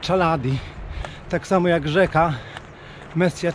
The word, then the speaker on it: Chaladi: Natomiast lodowiec, na którym wczoraj byłem, czyta się właśnie Chaladi.